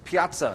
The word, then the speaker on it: piazza: Piazza, it's an Italian word, accent on the middle syllable.